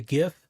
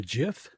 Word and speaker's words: GIF: No soft g is like uh you know the the the animated graphical thing the the as we call it a gif but the inventor wanted it called a gif.